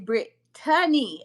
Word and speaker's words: Brittany: Brittany. It's not Britney. It's Brittany. Okay, I need y'all to get my name right.